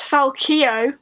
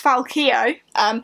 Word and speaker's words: Falcio: And these books follow Falcio, who in this book we discover it's pronounced Falcio. I, along with all of the characters in the book, have been getting that wrong. It's Falcio, who is a fallen greatcoat, and his buddies who are also fallen greatcoats.